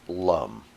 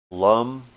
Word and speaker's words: lam: with an a like lum is spelled l a m and that's always pronounced as an uh unless it has a line over it so lum the trick is the